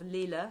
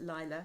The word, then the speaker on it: Lilah: in capitals liz loves go to house of lila sorry i pronounced it lila house of lila this is it l-i-l-a-h and